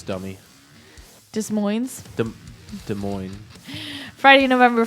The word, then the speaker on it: Des Moines: sissie rain death sentence ugly bones spare change Dark Mirror from Des Moines Iowa and savagery there you don't pronounce the S dummy dis Moines the Des Moines Friday